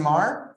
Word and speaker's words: Maher: my name is maher everybody it's actually it's rhymes with star um and i'm the